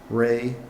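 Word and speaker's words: Rui: So it's move to appoint Mayak Jane, Ray, which is spelled R-U-I, Huang, Greg Cahoon, Greg Wright, and Paul Smith.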